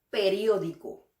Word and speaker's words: periódico: Lo que hace difícil de pronunciar esta palabra es, por un lado, es una palabra larga y por otro lado tiene una R suave intercalada. Entonces vamos a pronunciarla sílaba por sílaba.